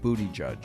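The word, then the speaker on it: Buttigieg: correct your pronunciation but I believe it's pronounced booty judge okay all right well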